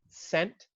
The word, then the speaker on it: scent: So maybe if you were going to go on to C, you might say the C in scent, S-C-E-N-T.